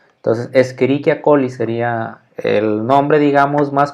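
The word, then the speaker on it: Escherichia coli: que se llama bueno la voy a decir ya cómo se con una fonética ya latina sería escherichia colli y entonces que aplicamos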